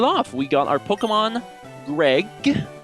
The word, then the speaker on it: Gregj: We got our Pokemon Gregj, the J is silent.